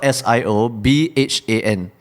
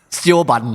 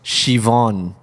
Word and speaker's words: Siobhan: It's spelled S-I-O-B-H-A-N. Sioban. It can sound a bit crude for those of you who know Hokkien, but it's supposed to be pronounced Siobhan.